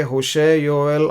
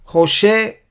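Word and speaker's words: הושע: होशे ऐसे लिखा हुआ हिंदी में, लेकिन होशेया है।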